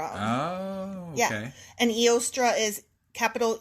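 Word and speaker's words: Eostre: An Eostra is capital E O S T R E.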